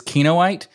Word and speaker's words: Kinoite: say that you're, It's okay if I can't pronounce Kinoite. no, okay. Hey, you said Technically- it right. So technically, it is Kinoite.